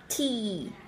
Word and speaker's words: tea: Giống như chúng ta đang nhoẻn miệng cười vậy, đọc phải nhe răng ra, được chưa? Chứ chúng ta không đọc là making tea. Miệng miệng mà nhỏ như này là không đúng nhá. Making tea. Tea, đúng không ạ? Tea. Cái miệng của chúng ta giống như đang cười âm y, được không ạ?